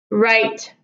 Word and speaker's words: write: large though though though right right right like you're writing a letter coming coming coming down